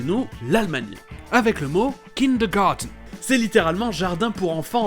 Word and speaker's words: kindergarten: Et on commence dans un pays près de chez nous, l'Allemagne, avec le mot kindergarten.